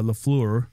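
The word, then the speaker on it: Lafleur: a legendary hockey player from montreal gee uh lefleur oh excellent pronunciation it was how was the pronunciation on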